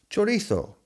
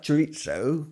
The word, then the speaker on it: chorizo: Chorizo. It's not pronounced chorizo because it's not Italian. It's Spanish. And they call it chorizo.